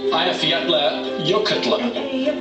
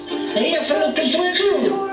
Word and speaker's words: Eyjafjallajökull: This is how it should be pronounced, we're told. Eyjafjallajökull. There it is. Eyjafjallajökull. Eyjafjallajökull.